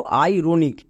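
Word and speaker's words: ironic: ভাবে দেখো আই রনিক এখানেও আই এর পরে আর আছে তার মানে আই আর এর জন্য আর হবে না এবার এখানে আই যেহেতু ভিসি রুলে আছে তাই আই এর জন্য লং সাউন্ড আই আর ও এর জন্য রো এন আই সি মানে নিক তাহলে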